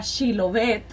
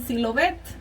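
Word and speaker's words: שיבולת: Porque los pobres, la palabra era Shilovet, y cuando les decían que dijeran Shilovet, ellos no podían pronunciarla porque tenían otro acento, ¿verdad? Entonces ellos decían Silovet.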